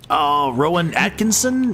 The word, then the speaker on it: Rowan Atkinson: It's Rowan Atkinson, isn't it?